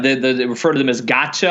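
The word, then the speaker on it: gacha: refer to them as gotcha I think is the way you pronounce its G a CH a but in any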